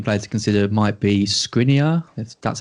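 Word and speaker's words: Škriniar: the other slacking player to consider might be scrinia that's how you pronounce it uh i mean he is basically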